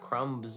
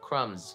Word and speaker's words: crumbs: Not crumbs, although it sounds really fun to say crumbs, but no, the B is silent, crumbs.